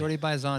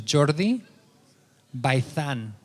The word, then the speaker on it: Jordi Baizan: Jordi Baizan is good. That's the American version of it. And what would the other version be? My dad's from Spain, and Right. my mom's Cuban, and the correct pronunciation is Jordi Baizan.